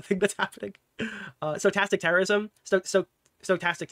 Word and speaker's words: stochastic: Stochastic. It's stochastic terrorism, right? That's how you fucking pronounce it.